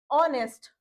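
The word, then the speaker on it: honest: जब एच हमारा साइलेंट हो जाएगा तो हम इसको क्या पढ़ेंगे? आवर ऑनर ऑनेस्ट ऑब ठीक है जब यहां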